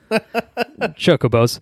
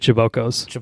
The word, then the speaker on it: chocobo: I think you said chibokos, but I like that pronunciation as well. It's a little. It's the dyslexic pronunciation of it, but I respect it nonetheless.